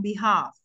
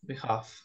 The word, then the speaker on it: behalf: the time right but remember the L is silent so we say on behalf half behalf behalf okay very good